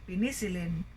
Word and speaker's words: penicillin: So we didn't say penicillin, okay, but penicillin. Persevere, so last syllable stress.